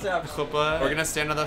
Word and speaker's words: chuppah: The UPA, how do you pronounce that? Chuppah.